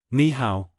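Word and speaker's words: 你好: Ni hao, hello, is usually pronounced as ni hao, where the first tone changes to the second tone due to the presence of another third tone.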